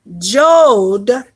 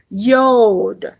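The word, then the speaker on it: יוד: All right, and so you'll pronounce it not Jod, but you will pronounce it with a Y. Yod.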